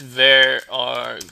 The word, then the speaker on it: varargs: It's varargs spelled like that. There's probably another pronunciation for it, but I basically broke it down to var and args.